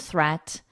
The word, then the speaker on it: threat: Watch out for meet and greet and threat, they rhyme with sweet and straight and debt.